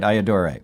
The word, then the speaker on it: Ayyadurai: You said it right, Ayyadurai.